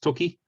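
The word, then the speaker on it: 時: So it's either pronounced toki or ji.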